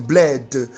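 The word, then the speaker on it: Blaide: Pour me suivre sur WhatsApp, vous cliquez mon nom, apôtre Betchem Bled. Betchem s'écrit B-E-T-S-E-M. Bled s'écrit B-L-A-I-D-E.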